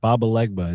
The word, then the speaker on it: Papa Legba: Baba, you almost had it. Baba Legba. It's like a voodoo sort of. It's not Papa Leg.